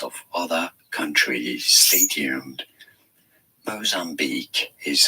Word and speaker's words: Mozambique: Mozambique is how it's said.